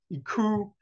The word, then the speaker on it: Iku: Iku is how you pronounce that Sumerian logogram.